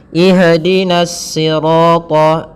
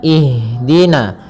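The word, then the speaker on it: اهدنا: Pada bacaan ihdina di sini ada huruf ha yang dia sukun. Ha ada salah satu sifat yang dia harus kita lafalkan ketika membacanya itu sikap eh maaf sifat hames. Hames artinya mengalir nafas kita. Mengalirnya nafas kita. Maka jangan sampai huruf ha ini memantul. Misalkan ihdinasirat ya. Akan tetapi alirkan nafasnya. Ihdina.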